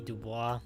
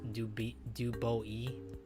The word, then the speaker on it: Du Bois: Well, Froggy, W.E.B. Du Bois here is pronounced Dubois, because he was an American.